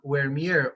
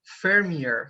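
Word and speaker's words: Vermeer: eager about the painting it's by jan where mere or your fermier so there are two pronunciations just it's not important but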